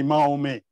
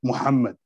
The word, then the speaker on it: Muhammad: So I wouldn't say Mahomet, just to go with the way they pronounce it. I would say Muhammad, even if I speak in English.